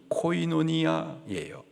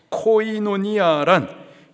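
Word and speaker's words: κοινωνία: 겁니다 특별히 여기서 나누어주다에 해당하는 헬라 단어의 발음이 코이노니아 코이노니아 교제 사이라고 하는 또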